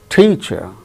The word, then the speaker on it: teacher: is accented for instance the word teacher t chair so there are two syllables out of these two syllables the first syllable is a stressed that gains importance more